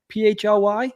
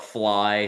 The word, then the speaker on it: PHL: some people call it Fly some people call it Philly it's it's supposed to be said as if it's call letter so PHL yeah incredible